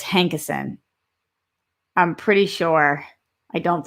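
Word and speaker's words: Hankison: i'm almost positive that it's brett hankerson not hankinson look at look up brett hankinson hankerson again it doesn't fully matter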